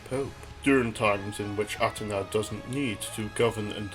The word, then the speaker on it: Atena: further elaborating on atena I should make note of my pronunciation of her name as the Japanese atena as opposed to the common Athena in Greek the name is closer to Athena making the pronunciation within the series a good middle ground to distinguish when I'm referring to the saintsayer version as opposed to the mythological one the majority of atena's